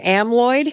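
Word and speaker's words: amyloid: Though I'm going to say this word wrong, but a amalloid.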